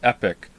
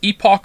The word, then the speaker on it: epoch: Many people pronounce it epic. What? It's epoch or oh, you mean epoch? Not epic? Epoch? It's not epic.